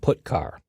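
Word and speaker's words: putchar: i o functions are git car and put car that's how i pronounce them git car fetches a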